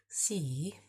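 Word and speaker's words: sì: Si is, kind of sounds like the word yes, doesn't it? Si. Si, but there's two I's, so it kind of is like a long sound.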